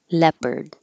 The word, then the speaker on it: leopard: coming up after leopard it looks like Leo but we don't pronounce it that way it's just leopard pet peeve we don't